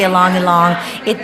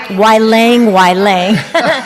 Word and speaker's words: Ylang: So if I'm saying along, I don't want you to spell it like LONG. This is how I say YLANG, which is totally wrong, but it's ylang.